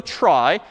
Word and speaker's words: trie: weird name and pronunciation short for retrieval pronounced try typically a try is